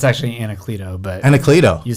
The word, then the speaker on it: Anacleto: Did I pronounce that right, Kris? It's actually Anacleto, but Anacleto.